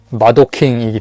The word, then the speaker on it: 마도킹: 뭐 그 사람들이 만든 마도킹이기 때문에. 마도킹. 우리나라식으로 마동왕이라고 읽는데 그냥 애니메이션에서 보면 마도킹이라고 하더라고요.